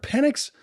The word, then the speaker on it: Penix: Pelix? Michael Penix Jr. Yeah, Penix? Straight out of Tampa, Florida. Yes, sir. Penix.